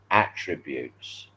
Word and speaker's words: attribute: But if you say that person has many fine characteristics, you then pronounce it differently. Then you say that person has very many fine attributes. So sometimes it's attribute, sometimes it's attribute.